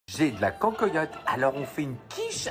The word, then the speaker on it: cancoillotte: j'ai de la cancoyotte. Alors on fait une quiche à la cancoyotte. Je ne connais absolument pas dans les marques de cancoyotte. Je suis envahie de cancoyotte. Soit bien d'un cancoyotte que de la cancoyotte.